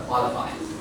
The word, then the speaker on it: qualified: The first syllables are qualified.